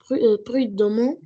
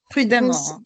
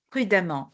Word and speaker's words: prudemment: Nous avons avancé prudement euh prudement à mon oncle prudemment. On prononce à prudemment.